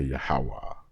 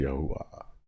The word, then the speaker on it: Yahweh: Some people say Yahweh. Some people say Yahuwah. All the same thing, just different accent on it.